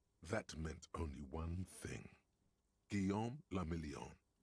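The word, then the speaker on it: Guillaume Le Million: Gam Lamelon. If it doesn't rhyme, you're not pronouncing it right.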